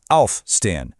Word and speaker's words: aufstehen: If you're dealing with a separable verb, the emphasis is always on the prefix. You really hear it, aufstehen.